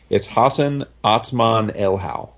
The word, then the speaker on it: Hassan Otsmane-Elhaou: But I'm pretty sure it's Hassan Otsmane-Elhaou.